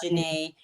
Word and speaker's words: Janae: because my name is French. It's a French name, Mm-hmm. so it It's really is, yeah, cool. pronounced Janae. I was actually named after Janae Du Bois I knew from.